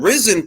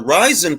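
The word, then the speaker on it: Rizin: boxer that fights on risen promotions or ryzen promotions as it's pronounced and you know nobody's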